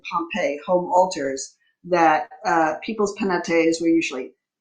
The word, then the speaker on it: Penates: Fulo asked a question about I believe is Penates, or how Oh, do you yes, the pronounce it? Penates.